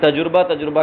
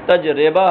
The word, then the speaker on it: تجربہ: شمس مانے سورج، تمرہ مانے کھجور، مجد کا معنی بزرگی، اور تجربہ جس کو آپ اردو میں تجربہ کہتے ہیں، صحیح تلفظ عربی زبان میں تجربہ ہے، تفعلہ کے وزن پر، یہ باب تفعیل سے مصدر کے طور پر آتا ہے.